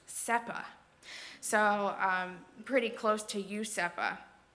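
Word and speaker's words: Sespas: s-e-s-p-a-s or c-e-s-p-a-s but in caribbean spanish a lot of times they would drop the s at the end of words or between consonants so this would actually be pronounced sepa so pretty close to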